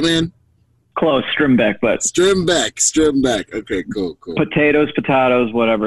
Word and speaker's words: Strimbeck: Close, Strimbeck, but Strimbeck.